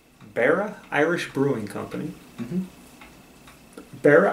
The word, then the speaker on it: Beara: It's Beara Irish Brewing Company.